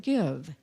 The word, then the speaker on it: Gyve: For electronic giving, you can download a new app to us called Give, and it's spelled Gyve, even though it's pronounced give.